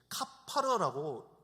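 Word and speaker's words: כפר: 우리가 흔히 생각할 때 이 속죄가 된다라는 것은 이 죄가 싹 사라질 것이다 라고 생각할 수 있지만요, 히브리어 원어를 보게 되면 속죄, 카파르라고 읽습니다. 카파르.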